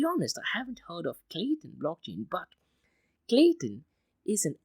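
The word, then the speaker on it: Klaytn: second to be honest I haven't heard of Clayton blockchain but Clayton is an open-source public blockchain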